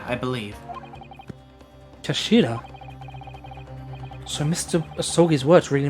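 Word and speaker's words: 頭: It's written as the head in Japanese, but it's pronounced as Kashira. I believe Kashira.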